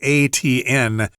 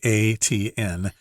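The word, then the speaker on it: Étienne: That sounds like ATN. If you have any trouble pronouncing that, just say the letters ATN and you're pretty close.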